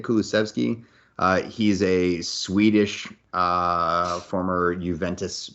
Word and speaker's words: Kulusevski: I think that's the right way to say it, Kulusevski.